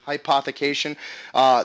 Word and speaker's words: rehypothecation: It's called Shadow rehypothecation. And was that the correct pronunciation, Matt? Shadow Yeah, rehypothecation.